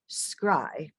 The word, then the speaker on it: CRI: smithsonian's cultural rescue initiative known by its acronym as CRI pronounced scry for which she serves